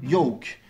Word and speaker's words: yolk: Et notez aussi que lorsque l'on applique cette règle, le L ne se prononce pas lorsque suivi du son K, comme par exemple dans folk ou encore yoke, ou aussi du son M, comme par exemple dans Holmes ou encore Stockholm.